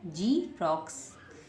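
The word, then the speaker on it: xerox: आर ओ एक्स तो रोक्स क्या बन गया जी रोक्स ऐसे ही नेक्स्ट लिखा हुआ ई एक्स ए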